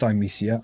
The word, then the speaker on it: Thymesia: Sometimes it just goes through my head because in Thymesia, and it is pronounced Thymesia, I actually watched a half-hour long developer live stream just to get that right.